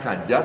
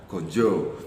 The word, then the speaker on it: ganja: Dan ini kelengkapannya ini yang namanya tulisannya ganja tapi dalam istilah kita membacanya adalah gonjo.